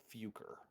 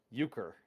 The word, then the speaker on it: Euchre: So, we are trying to potentially dispose of someone named Fuker. Do you know Euchre? I have been pronouncing that incorrectly. Euchre.